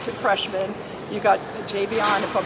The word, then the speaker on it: Javion: You got Javion, if I'm saying it right, Cohen. Yep, Javion.